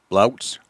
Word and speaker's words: Blauks: just busted out laughing BL a u KS and how do you say it again blokes ouch ouch that's that's really